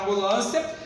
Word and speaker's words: ambulância: Eu pronuncio ambulância. Observe, senhores. Eu foneticamente não pronunciei o M e não pronunciei o N.